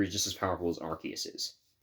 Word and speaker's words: Arceus: bestow upon him now for those of you who are about to say I'm pronouncing Arceus wrong Arceus has known Arceus Arceus Arcus whatever the heck you wanna pronounce it they're all right but I'm going to call it Arceus because that's what they say in the anime so anyway speed Fury